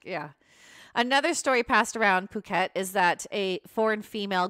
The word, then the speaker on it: Phuket: that new job too apologies I've been pronouncing the word wrong p-h-u-k-e-t is Phuket sorry guys so on